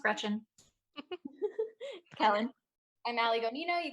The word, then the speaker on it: Greczyn: I'm Alice Food on Twitter, Alice Greczyn on Instagram, and that's how it's pronounced. It looks crazy, but it's just pronounced Greczyn.